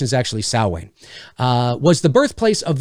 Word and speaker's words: Samhain: might not know i know donald pleasant says samhain and we've come to know it as samhain the correct the correct pronunciation is actually sowway uh was the birthplace of the sowein festival